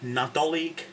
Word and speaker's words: Nadolig: you had christmassy stuff remember the g at the end though right this is